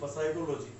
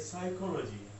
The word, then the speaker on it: psychology: में देख लो भा पहले पी आता है जो साइलेंट रहता ऐसे नहीं बोलना कि प साइकोलॉजी क्या बोल दो आप प साइकोलॉजी ये प साइकोलॉजी नहीं है ये साइकोलॉजी है ठीक है बात करें